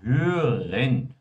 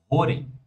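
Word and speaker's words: hören: A palavra hen tenham muito cuidado com ela, por estudantes brasileiros de alemão, eles costumam falar assim, ó, rorem, tá?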